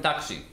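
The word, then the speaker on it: Tacsy: And it's not spelled like that, it's spelled T-A-C-S-Y. This is taxi.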